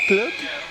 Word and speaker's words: Clogg: Because I know that all the journalists from around the world say, how do you pronounce that surname? Is it Clogg? It is.